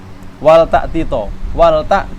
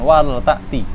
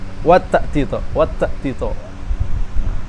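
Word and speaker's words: ولتأت: Orang lidahnya kesulitan, dia akan menyebabkan apa? Idgham. Sehingga seperti ini bacanya. Wat ta'tito. Padahal kita sudah sebutkan tadi hukum lam amr di sini apa? Idhar kan. Makanya yang perlu diperhatikan dan diwanti-wanti ketika membaca tersebut itu jangan sampai dibacanya dengan idgham. Hati-hati.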